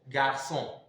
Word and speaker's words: garçon: It is added to in order to soften the C so that the C can be pronounced S. If not, it may be pronounced or K. It will be pronounced K.